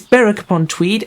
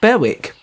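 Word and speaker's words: Berwick-upon-Tweed: being so southern um it is barrack upon tweed and i should have known that in fact i did know that but for some reason i looked at it and went berwick even though i know that the w is silent but there you go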